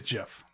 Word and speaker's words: GIF: It is spelled GIF. The proper way is GIF.